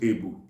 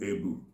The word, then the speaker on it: ebu: You see, in Igbo we call it ebu. A-B-U, ebu.